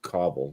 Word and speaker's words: cobble: And that's pronounced cobble, by the way.